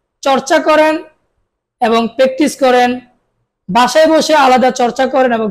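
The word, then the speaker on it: ب: বা আবার বলুন বা দুই ঠোঁটের ভিজা জায়গা থেকে আদায় হবে বা তা বলুন তা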